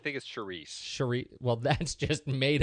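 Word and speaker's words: Saoirse: How do you say Suarez Ronan? Sours? I think it's Charisse.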